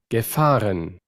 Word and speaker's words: gefahren: gefahren, gefahren, gefahren, gefahren, aquí suena como el Ishbar realmente. O sea, tenemos allá una pronunciación de Austria donde no se usa el Ishbar y aquí tendríamos una pronunciación donde se está gefahren, usando el Ishbar.